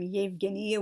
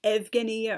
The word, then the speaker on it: Yevgenia: would see, for example, the name Yevgenia would look like it was pronounced Evgenia, or the name Yelena looked like it would be pronounced Elena, and just all sorts of other things like that.